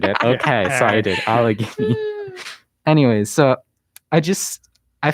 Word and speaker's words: Allegheny: like more spiff specifically i'm going to butcher the name but it's algen hiney county in pennsylvania i probably butchered that y'all but allegheny yes i butchered it okay sorry allegheny anyways so i just